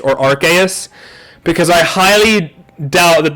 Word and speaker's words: Arceus: it would make sense, because why else would Arceus summon you, you know, if you are dealing with godly Pokemon?